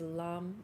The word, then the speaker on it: lam: your root chakra visualizing red and the seed syllable for the root chakra is LAM l a m we're going to sing chant